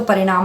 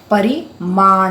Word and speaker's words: परिमाण: देखो गलत काम करोगे तो परिणाम अच्छा नहीं होगा। लेकिन यहां पर क्या है? परिणाम नहीं है। परिमाण है। म आगे ण पीछे है। ये स्पेलिंग का फर्क है। इसको ध्यान से समझ लेना।